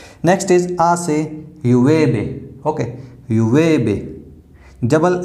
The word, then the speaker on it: llueve: Okay, llueve. Double L is pronounced as A. Okay, so llueve.